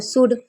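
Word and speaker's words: should: ध्यान से सुनिए, अगर एल से पहले ए, ओ, यू होगा यानी कि इनमें से कोई एक होगा तो एल साइलेंट रहता है।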